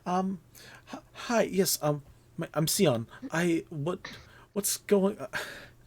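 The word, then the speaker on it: Sion: hi yes um i'm seon i what what's going how is what's your name see like the color s-i-o-n is this the time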